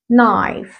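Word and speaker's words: knife: طب تعالوا كده نشوف كلمه زي كلمه سكينه بقولها ايه بقولها نايف هل هنا نطقه الكي لا ولا كانك شايفها خالص نايف نايف نايف كلمه زي كلمه يعرف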